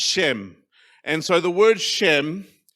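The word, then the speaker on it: שֵׁם: It's pronounced Shem.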